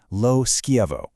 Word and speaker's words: LoSchiavo: And a fantastic contemporary example is the award-winning poet LindaAnn LoSchiavo, and that's pronounced LindaAnn LoSchiavo.